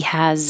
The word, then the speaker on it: has: He has a that looks like an S, sounds like a Z.